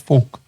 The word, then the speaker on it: folk: I said folk. You pronounce the L. Don't pronounce the L.